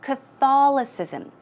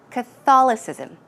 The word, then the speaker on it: Catholicism: you would pronounce that Catholicism Crystalis ISM the stress goes right there Catholicism it's difficult and then